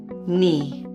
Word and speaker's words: knee: Knee. Funny. Sign. Airplane. The N sound can be spelled with the letter N as in night, KN as in knee, NN as in funny, GN as in sign, or NE as in airplane.